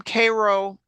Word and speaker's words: Cairo: this postcard is from Koo Illinois is spelled the same way as as Cairo like Egypt when I saw that